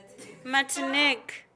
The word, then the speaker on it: Martinique: Are you pronouncing it right? No. It can't be Mantinque. It's Matinki. Martinique.